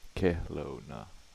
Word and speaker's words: Kelowna: How do they pronounce that? Kelowna.